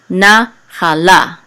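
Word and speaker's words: נַחֲלָה: Okay, this etnachta is the accent mark, so the accent is on the last syllable, but this syllable is a little bit stronger than this one, so this nachala, okay, nachala, and this etnachta says etnachta, sorry, etnachta.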